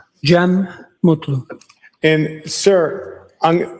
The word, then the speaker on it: Cem: Jeem Mutlu.